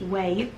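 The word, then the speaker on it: Ouai: somebody told me that oh you AI is French and this pronounced way leaving conditioner and the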